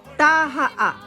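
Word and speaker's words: Taha'a: Tah-hah-ah.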